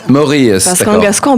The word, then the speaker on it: Maouries: Et ça se prononce Maour. Maurus.